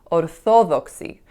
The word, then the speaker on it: orthodoxy: And in Greek, it would be pronounced orthodoxy. So the second syllable would receive the stress. So my gut instinct was to pronounce it in a similar way, even though that's not how it's pronounced in English.